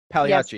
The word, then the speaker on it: Pagliacci: So y'all challenged me to Pagliacci. Is that how you pronounce it? Pagliacci.